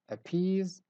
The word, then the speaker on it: appease: syllables in each word word number one is appease appease so in the first word we stress the syllable peas we say appease word number two is